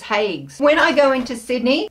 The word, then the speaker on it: Haigh's: this year and it's from hags or hags I never know how to say it correctly I feel feel like I should say it in a classier way which would be hugs but I think it's just hags when I go into